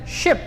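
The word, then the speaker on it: sheep: For example words like शिप, शिप। अब इन दोनों words में काफी डिफरेंस है। पहला जो वर्ड है उसको प्रोनाउंस किया जाता है शीप और दूसरा जो वर्ड है इसको प्रोनाउंस किया जाता है शिप।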